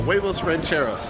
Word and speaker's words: huevos rancheros: Yeah, huevos rancheros.